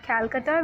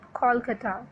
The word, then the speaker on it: Kolkata: We don't call it Calcutta, we pronounce it Kolkata.